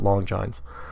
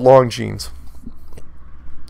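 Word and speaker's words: Longines: pronunciation yeah I know I called it long johns it's called long jeans and witnaur yep scribed the show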